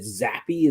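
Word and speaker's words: Zappe: The owner said that they really liked, is it Zappy? Is that how you pronounce his name?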